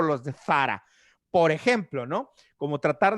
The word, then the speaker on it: Zara: dice Sara, se dice Sarah, que estaba súper mal pronunciado porque la marca es española y se pronuncia Zara, si nos fuésemos a tratar de pronunciarlo bien con la Z española.